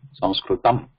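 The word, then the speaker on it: संस्कृतम्: But at the end, because it has, we cannot just say Sanskritam and keep our nose open and our mouth open. It has to close at the end here. Sanskritam. The ma here.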